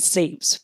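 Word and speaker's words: SEIPS: than anything else is how do you say seeps? Is it seeps? Yes. Pascal Coron is saying it seeps.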